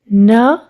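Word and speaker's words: knee: न ई नी के साइलेंट है।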